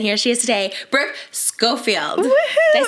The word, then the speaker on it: Schofield: Brook Brook and here she is today Brook scoffield did I say it right yes you did